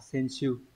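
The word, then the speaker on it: 選手: Còn 1 với 3 thì chữ tuyển sẽ đọc là sen. Như vậy chúng ta chọn là sen siêu.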